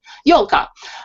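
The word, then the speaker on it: ёлка: Now, tell me a little more about, is it pronounced Yolka? Yolka.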